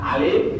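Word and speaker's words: ألف: Alif dibaca alif, bukan A gitu maksudnya ya.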